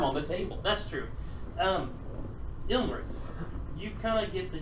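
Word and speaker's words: Iymrith: Oh, there's no actual L in that name. Okay. Ilmarith? Yeah, Ilmarith. Sorry, I've been saying it wrong.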